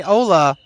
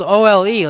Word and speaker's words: Ole: He says his name is Ola. It's spelled O-L-E, like Ole. But he says it's Ola. So we'll call him.